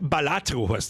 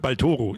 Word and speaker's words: Balatro: stickt mir überhaupt nicht balatro ja nicht baloro irgend balatro interessieren ja